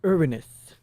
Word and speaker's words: Uranus: I believe the best pronunciation is stated by Sailor Uranus from, the Sailor Century. It's Uranus. Because it's like, it doesn't really leave room for the joke about saying Uranus.